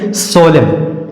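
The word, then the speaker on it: solemn: होता है धिक्कार ना आगे उसी तरह से सोलिम सोलिम एस ओ एल ई एम एन सोलिम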